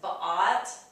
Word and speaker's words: bought: And then all these have the same ah, like paw or saw. That's bought, brought, thought, and fought.